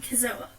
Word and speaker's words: Kezzoa: And even though it doesn't matter at all, I pronounced my username Kezzoa.